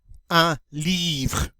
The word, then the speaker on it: livre: Now, with livre, it ends in RE, but we are not going to say un livre. All right? This word, that E is silent, the word ends with an R, and that's where we stop. We say livre, livre.